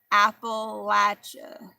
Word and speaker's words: Appalachia: And I heard another girl saying, you know, who's from that area, that you say it like apple. Appalachia.